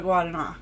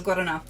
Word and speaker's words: Guaraná: share so guana um the r is like a duh sound um when you say it this the way it's spelled um in Portuguese so guana to guana So